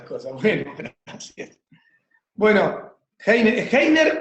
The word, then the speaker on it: Heiner: mayoría de las personas, y yo mismo me llamo Heiner, pero hay algunas personas, dependiendo de su latitud, que la H la hacen muda, entonces a mí me cuesta pronunciarlo Heiner, me cuesta.